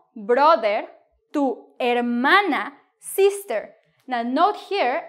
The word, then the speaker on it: hermana: Tu hermano brother to hermana sister now note here I'm not pronouncing the H because the H in Spanish is silent yes it is a